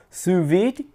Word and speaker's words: sous vide: say the de but I looked up the translation is sous vide like that so it kind of hits the D a little bit so if you kind